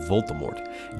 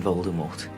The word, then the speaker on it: Voldemort: To be faithful to the French origins of the name Voldemort, J.K. Rowling had intended for the T in the end to be silent, but it didn't come across in the book properly.